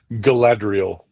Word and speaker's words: Galadriel: Oh, Kate Blanchett played Galadriel. Am I pronouncing that right? Galadriel. Yeah, the Elven co-ruler of Yeah, I don't know.